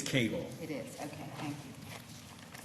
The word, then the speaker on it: Cagle: Have I mispronounced your client's name? It is Cagle.